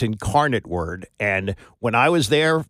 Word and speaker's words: Incarnate Word: Andy, I used to put inc word like ink word. I didn't know how to pronounce it. So, it's Incarnate Word. I'll remember that, Annie, for draft. I won't get it wrong on draft day now. Incarnate Word.